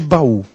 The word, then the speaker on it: baú: separar as sílabas de baú Vejam Só de acordo com esta Regra geral baú então tem duas sílabas eu vou encaixar aqui qual é a sílaba forte u-bahn uh uh é forte então se eu comparo